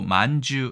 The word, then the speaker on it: 饅頭: 만두란 말이 있긴 있습니다 발음도 만주 해서 상당히 비 비슷한데 뒤에 설명드리겠지만 일본에서 만주라는